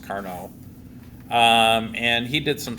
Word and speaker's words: Carnot: a French uh and I said car but it's actually pronounced carno um and he did